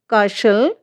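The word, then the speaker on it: castle: Rules हमारा क्या कहता है, STEN या STLE से अंत होने वाले कई शब्दों में टी जो है वो साइलेंट रहता है। स्पेलिंग से देखिए, लिसन, फाशन, काशल, ऑफन, ये जो हमारी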